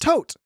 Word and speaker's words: Thoth: Tote. Like a tote bag.